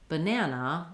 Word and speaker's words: banana: So in a word like banana, we have 3 letter A's, and we say the A vowel on the middle syllable. That's a syllable that has the syllable stress.